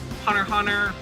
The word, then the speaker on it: Hunter x Hunter: hits of matchup where Hunter Hunter kilowatt is an assassin basically so Xing them out and the X in Hunter x Hunter is silent I'm gonna spite some